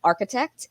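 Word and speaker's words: Arkatecht: ceo of a company called architect and i always have to give the disclaimer no we are not an architecture firm not even in the in the tech sense of the word um we spell it a-r-k-a-t-e-c-h-t and we create web-based professional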